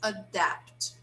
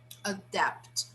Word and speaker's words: adapt: the verb here is adapt adapt so the stress is on the second syllable now here when i